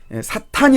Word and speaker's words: 사탄: 근데 이 악령에는 사탄이 있어요. 사단이라고도 하기도 하는데 이제 발음상은 트 발음이기 때문에 사탄이 좀 더 이제 정확하죠.